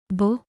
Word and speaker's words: beaux: The final x is silent in the plural. You do not pronounce the x. The pronunciation stays almost the same as the singular.